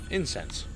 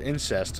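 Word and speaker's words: incense: in cents cool I used to think that was called incest and that was how that was pronounced that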